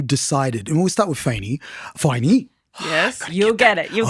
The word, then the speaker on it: Faine: Yeah, forget about how it's spelled. Just think about the Faine. sign. Yes, you Faine, baby.